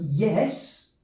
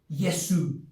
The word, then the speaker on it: yes: we have the word yes many students say yesu or yesu there is no vowel sound at the end of this word yes also another one is